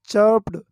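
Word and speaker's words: chirped: चर्प्ड, चर्प्ड, यहाँ पर are silent है। ओके, इसको पढ़ेंगे हम चर्प्ड, चर्प्ड।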